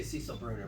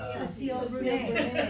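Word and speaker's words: Cécile Brünner: We say Cecil Bruner, but it's actually Cecile Brunet. Cecile Brunet. It's a woman. It's not a dude, and it's not English. Anyway, the great grandson of the man, Duché is their name, Duché.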